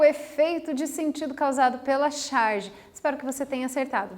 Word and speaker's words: charge: significa que curioso é de origem francesa né se pronuncia a charge olha que chique né